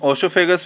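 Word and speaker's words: oesophagus: ईसोफेगस, जिसको हम ओसोफेगस भी बोलते हैं, प्रोनाउंसिएट करते हैं.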